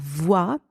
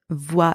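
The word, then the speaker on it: voie: even way um and the letters o and I together in that word are pronounced W and the final e is silent in the second word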